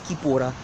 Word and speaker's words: Capoeira: Capoeira is Kipura, all right, mispronounced. Angola is the horrible misapplication and misunderstanding of the Kimbundu term Ngola.